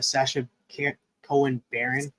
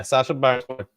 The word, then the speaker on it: Sacha Baron Cohen: do have him with Sacha Cohen Baron. Is that how you say his name? Sacha Baron Cohen. Yeah, Sacha Baron Cohen.